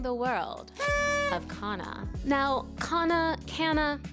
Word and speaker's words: kanna: world of Kaa now K Cana I've heard people pronounce this differently I've seen more people pronounce it Kana so for practicality we will be calling it Kaa in this video and today we are